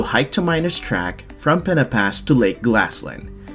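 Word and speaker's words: Pen-y-Pass: By the way, you'll hear me say Pena Pass a few times, cause that's how they pronounce it. Pena Pass. Spelt like Penway Pass, but pronounced differently.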